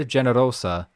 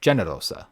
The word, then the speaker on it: generosa: generous or Noble and here's another slight difference kind of like C with classical Latin G In classical Latin is always a hard G so it would be genosa instead of generosa but just like with G in modern English and Italian when certain vowels follow that g it becomes soft and sounds like J